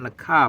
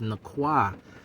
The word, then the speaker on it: Nakwa: No, my name is not nakah. My name is Nakwa. It's a kof, not a kaf.